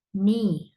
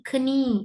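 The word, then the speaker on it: knee: உதாரணத்துக்கு நீ, நீ என்றது முழங்காலுக்கு நீ. அதை வந்து சிலர்கள் கனி என்றுவாங்க. கனி, கே சைலண்ட். நீ, கே சைலண்ட்.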